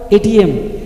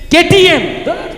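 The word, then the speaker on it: KTM: আর এখন যে এই কিছুদিন আগে বেরিয়েছে কি গাড়ি ওটা, এটিএম, এটিএম, হ্যাঁ ও সরি কি কেটিএম, বুঝতে পেরেছেন উচ্চারণটা ঠিক মতো হচ্ছে না, কেটিএম তাই তো।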